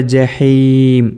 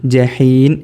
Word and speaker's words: جحيم: അതുപോലെ ജഹീം ഇവിടെ മീമാണ്, ജഹീൻ എന്ന് പറയരുത്. ഇവിടെ യഖീനാണ്.